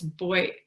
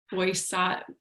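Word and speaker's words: Boyatzis: I can never pronounce his name. It's Boyattzis. Boyattzis.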